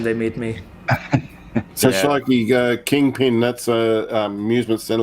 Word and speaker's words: Shloky: But the spelling is more like SHLOKY, Right. not with an I, with a Y.